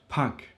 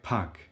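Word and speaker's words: pak: So there is a short one which is in the word puck. Puck a puck means a little a bit.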